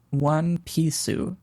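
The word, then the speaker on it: ワンピース: You pronounce this One Pisu.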